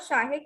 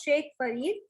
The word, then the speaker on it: Sheikh Farid: Okay, and there you have mispronounced Sheikh. It is not Shahik, it is Sheikh Farid.